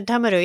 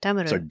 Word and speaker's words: damaru: a damaru damaru yeah it's a damaru yeah that's how how we would say it damaru damaru I'm mispronouncing it no no that's right when you see that